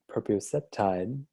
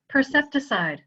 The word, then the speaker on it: percepticide: And I know, Rae, we've talked around the word proprioceptide. I think I pronounced that wrong. Percepticide.